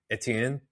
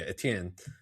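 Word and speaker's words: Étienne: It's like a Cajun French pronunciation of that. Absolutely. Because if you were in French, it would be Etienne, which is close. Yeah, Etienne.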